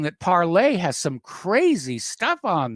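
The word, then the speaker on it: Parler: Now, we have talked about parlay. I know a lot of people call it parlor, but it's the French word for speak. And it's pronounced parlay.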